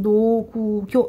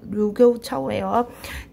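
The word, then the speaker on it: 盧溝橋: 이게 여러분 노구교 다리 이름입니다. 이 이거 중국 발음이 루교우 차오예요.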